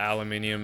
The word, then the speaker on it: aluminium: byon be bygones right and just admit that aluminium is the correct pronunciation man I don't think it's that big